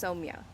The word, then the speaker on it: Somia: my name is pronounced somia um it's like Sonia but with an M that's what I tell